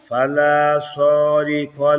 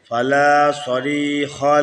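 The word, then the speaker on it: فلا صريخ: ওয়াইন্নাশা ওয়াইন্নাশা একসঙ্গে বলবেন ওয়াইন্নাশা ওয়াইন্নাশা নুগরিকুহুম নুগরিকুহুম নুগরিকুহুম নুগরিকুহুম ফালা সারিখা লাহুম ফালা সারি স টানবে কেন? ফালা সরি স টানবে না, রি টানবেন। ফালা সারিখা লাহুম ফালা সারি লাহুম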